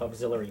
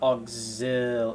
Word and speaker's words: auxiliary: Um, especially ones that have six pin uh PCIe auxil auxiliary power. Auxiliary. That's how you say it's it's not it's not auxil it's auxil like auxiliary auxiliary auxiliary auxiliary that's that's how it's spelled at least auxiliary auxiliary